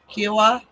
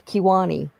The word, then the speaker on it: Kiowa: Kiowa? That's not how you say it, but okay. I know what you're talking about. Well, how do you say it? It's Kiwani.